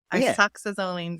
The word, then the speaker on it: isoxazoline: Isoxazoline. Isoxazoline. Nice. I used to say it totally different before, but I actually looked it up and okay. Isoxazoline. So think like iPod, isoxazoline. Yes.